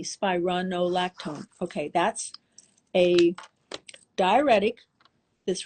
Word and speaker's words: spironolactone: it's been around like 60 years it's called spironolactone I'm going to spell it for everybody s is and Sam p is and Peter i r o n o l a c t o n e spironolactone okay that's a diuretic that's really not even